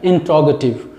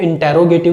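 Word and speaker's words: interrogative: ठीक है, आपने इसको इंटेरोगेटिव सुना होगा, और मैं जो बोल रहा हूँ इंट्रोगेटिव, ये एक ट्रांसक्रिप्शन, इसका एक्चुअल जो प्रोनाउंसिएशन है वेरी क्लोजेस्ट, वो मैं आपके सामने प्रोनाउंस कर रहा हूँ।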